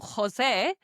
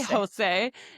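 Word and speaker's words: José: And so that's why when we see things like Spanish names, for example, Jose, it doesn't say no way Jose don't say Jose because it starts with a J. And we now know that every time we see the letter J in Spanish, we pronounce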